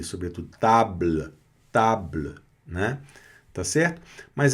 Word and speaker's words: table: E essa vogal, ela não é pronunciada, tá? Então, ela pode até aparecer bem discretinha no final da palavra, mas ela não tem a menor intenção de aparecer.